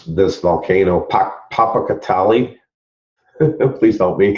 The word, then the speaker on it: Popocatépetl: Well, this next one I'm going to share with you is I can never pronounce this volcano, Popocatépetl.